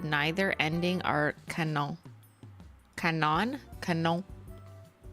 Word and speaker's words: canon: I think I'm misunderstanding Canyon Cano Canyon what Canon it's pronounced like the camera brand oh okay I don't